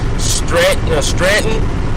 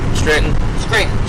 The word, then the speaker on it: Scranton: Stratton, did I pronounce that right? Is it Stratton? Scranton. Yeah.